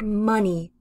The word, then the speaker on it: money: vowel in the middle for the word money you have the uh uh uh the short u sound like the word up uh up you see